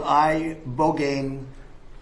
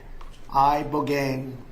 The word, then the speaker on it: ibogaine: In 2024 study from Stanford University, 30 special operation veterans with traumatic brain injuries underwent it's called ibogaine treatment. Ibogaine. Remember the name. Is that pronounced relatively properly, would you say?